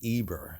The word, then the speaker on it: Eber: the man the patriarch Aber or Iber right pronounced as Eber.